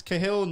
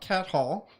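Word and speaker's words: Cahill: from northern irland again it's kahill not cat Hall go Adrian up the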